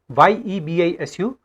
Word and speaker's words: Yebisu: Basically, it is written here Yebisu, Yebisu, but it is pronounced as Yebisu.